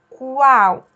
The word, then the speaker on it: qual: Mesma coisa com o Q e o U, quando ele tem o A junto. Também tem o U pronunciado. Quarto, qual. Eu escuto esse U, eu falo ele, né?